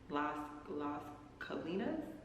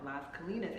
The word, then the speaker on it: Las Colinas: Should I go into the Las Colinas? I'm still pronouncing that wrong. Las Colinas area.